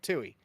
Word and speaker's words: Toohey: How do you pronounce this? What? Ford. Toohey. That's what I thought. Toohey.